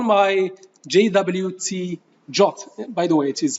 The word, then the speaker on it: JWT: verify all I do I call my JWT jot by the way it is pronounced as jots by call my job package